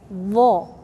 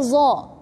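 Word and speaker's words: ظ: So we have tha, tongue out, vel, and we have vo. Vo, don't say zo. Most of people, they say zo. Wrong. Totally wrong.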